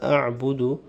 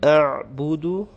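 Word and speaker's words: أَعْبُدُ: In the next verse, the la a'budu, you'll prolong the la, and the ayn, you have to make sure you say it properly. A'budu, without making qalqala, without echoing it. Some people have the tendency of saying a'budu, which is wrong.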